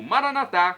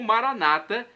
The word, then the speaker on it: Maranata: de Jesus eu clamo Maranata como dizemos nós católicos ou Maranata com a tônica na penúltima sílaba quando como dizem os nossos irmãos separados os evangélicos ou protestantes não importa a pronúncia seja com a tônica na última sílaba ou na penúltima significa vinde Senhor Jesus